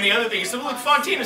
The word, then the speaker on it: Fontina: But then there was a character they introduced named Fantina. And they wanted to pronounce her Fantina.